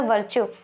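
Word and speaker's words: Virchow: देखिए जो प्रोनंसिएशन है उसमें और स्पेलिंग में दोनों में डिफरेंस है। ठीक है? स्पेलिंग है वी आई आर सी एच ओ डब्ल्यू। क्या नाम? क्या है spelling? We आई आर सी एच ओ डब्ल्यू। ठीक है? और जो प्रंसिएशन किया जाता है वह किया जाता है वर्चू।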